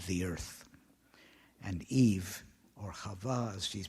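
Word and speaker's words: חוה: And Eve, or Chava as she's pronounced in Hebrew, means life-giving.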